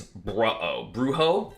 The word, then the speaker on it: Brujo: But probably the biggest run of the tournament, other than maybe Anarchy's, is Bruho. Don't know how to say his name. I think it should be pronounced Bruho, because I think that's funny.